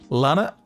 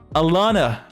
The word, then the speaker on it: Alana: Oh man, I mispronounced her name. I'm sorry. Alana's? Lana? Oh god, fuck. How do you pronounce her name? What is the name? Alana.